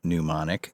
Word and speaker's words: Mnemonic: Today we are talking about the film Johnny Mnemonic. The M is silent, and the first M.